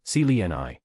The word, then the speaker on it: Seline: Seline, it is pronounced as celi. The first part c is like the last part of his. The last part Ni is like the last part of the naggony.